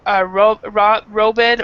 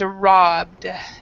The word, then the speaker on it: robbed: And remember, the pronunciation of this is not robed or robbed. It's robbed. Is how we pronounce it.